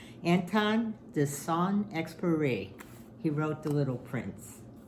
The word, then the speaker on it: Saint-Exupéry: I looked up the phonetic spelling, phonetic pronunciation. Anton de Saint-Exupéry.